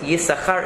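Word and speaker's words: יששכר: So if you've ever noticed, Yisachar is spelled with 2 sin, that you don't pronounce the second one.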